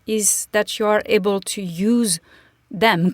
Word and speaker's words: tous: So when tous replaces a group of person, that's actually what a pronoun does, then you will pronounce the S in the masculine.